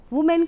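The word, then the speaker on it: women: इधर भी देखिए वुमेन, वुमेन का प्लूरल किया तो वीमेन।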